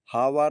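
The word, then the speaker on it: hour: हावर इसमें ओ के पहले एच आया अगली मीनिंग है इको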